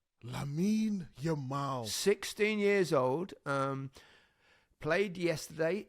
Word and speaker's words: Lamine Yamal: I think it's Lamine Yamal. Lamine Yamal.